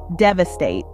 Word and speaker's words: devastate: The emphasis falls on the first syllable, dev, followed by A and then state. Pronounce it slowly, dev-a-state.